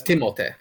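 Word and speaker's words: Timothée: really timothy look i i didn't yeah it's timothee wow um he's everyone's favorite boy right now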